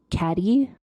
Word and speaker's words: cadet: She pronounced cadet caddy with her accent and that is golf.